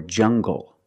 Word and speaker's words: jungle: let's look at NG when we have an L after it when you have an L after it it makes the G sound like English make the hard G English or jungle tangle and angle these are pronounced with the hard G sound example monkeys live in a jungle make the hard G sound jungle so you have the nasal sound and the hard G jungle go monkeys live in